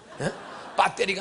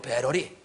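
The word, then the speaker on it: battery: 컴퓨터가 아니고 컴퓨터, 재떨이가 아니고 재러리, 배터리가 아니고 배러리, 시애틀이 아니고 세아를, 밀크가 아니고 밀크. 발음을 똑바로 해야 돼요.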